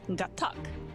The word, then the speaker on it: Gatac: No, it's Gatac. That's how you say it. Right. The tack. Okay, let's do a brief history of House Gatac.